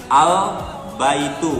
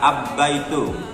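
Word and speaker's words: البيت: Jadi semua huruf aslinya tetap dibaca jelas al-baitu, bukan ab-baitu.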